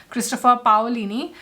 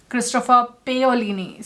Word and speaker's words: Christopher Paolini: For To Sleep in a Sea of Stars, the author's name, I've always been pronouncing it as Christopher Paolini, but in the audiobook it was clearly said that it is Christopher Paolini.